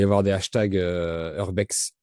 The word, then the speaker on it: urbex: Donc il doit y avoir des hashtags Urbex Urbex, on prononce? Oui, urbex. Urbex. En français, ouais, on dit urbex.